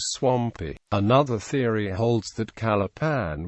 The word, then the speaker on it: Calapan: Another theory holds that Calapan was originally pronounced as Calapang, which, according to an old Tagalog dictionary, was a synonym for sangop or branch.